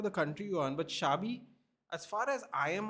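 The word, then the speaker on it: Xabi: So they have spelled his name Shabier Alonzo with a B. That's why it's pronounced shabi.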